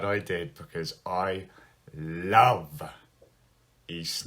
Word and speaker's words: Ys: did, because I love East 9. East, a lot of people would call it like Wise or something like that, because it's spelled Y-S.